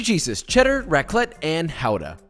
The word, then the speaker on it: Gouda: 3 cheeses, cheddar, raclette, and Gouda. It's pronounced Gouda, but yeah, Gouda.